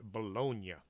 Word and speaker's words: Bologna: this walking the earth i know the name is actually pronounced bologna but to me it sounds too much like bologna so i'll just pronounce it bologna you know what they